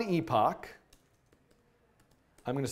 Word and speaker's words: epoch: I'm going to add a term somewhere, epoch, which is, in my view, the proper pronunciation of this word, not how I like to, never mind. Anyway, so epoch, or epic, whatever.